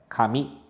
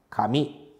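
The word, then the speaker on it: 紙: k e com a letra mi e a pronúncia da palavra é Kami Kami Então olha só letra k letra mi Kami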